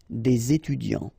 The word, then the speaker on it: des étudiants: So des here ending with s, and then you've got a word after, étudiant, students. So it starts with a vowel, so you should make the connection, the liaison between the two, des étudiants.